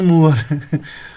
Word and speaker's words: mower: मोवर के मूवर है ये, लॉन मूवर एक मिनट, मोवर ही है, MOWER। इसकी प्रोनाउंसिएशन क्या होगी?